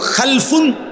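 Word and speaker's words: خلف: হয় আরবিতে একটা হল খালফুন আরেকটা হল খালাফুন একই শব্দ শুধু উচ্চারণের মধ্যে একটু ভিন্নতা মাঝখানে একটা লাম আছে এই লামটার মধ্যে যদি সাকিন হয় তাইলে হল খালফুন আর যদি লামের মধ্যে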